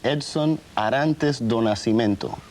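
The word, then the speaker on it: Edson Arantes do Nascimento: mistakes then become different let me see if I can pronounce this right your name is Edson Arantes donasimento perfect now where does the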